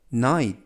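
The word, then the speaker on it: night: 뜻은 비치 라는 뜻이고요 얘는 4 아이는 아이 그리고 주위에 이치는 묵음 튀는 트 그래서 나이 나이 라고 발음합니다 뜻은 밤 컴컴한 밤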